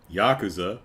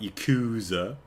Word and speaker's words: Yakuza: Um remember Yakuza, not Yakuza.